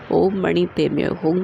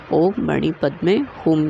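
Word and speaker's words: ॐ मणि पद्मे हूँ: एक प्रमुख मंत्र है, जिसका तिब्बती के अंतर्गत उच्चारण ओम मणि पे में होम किया जाता है, तो वहीं संस्कृत के दृष्टिकोण से इसका उच्चारण ओम मणि पद में होम किया जाता है।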